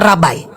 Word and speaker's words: Rabbi: Rabbi tulisannya, bacanya rabai.